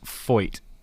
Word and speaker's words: Feucht: And I believe it's pronounced Feucht, Sean Feucht, the guy that's